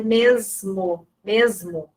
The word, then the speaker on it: mesmo: Mesmo também, a gente pronuncia o S com som do Z. Mesmo.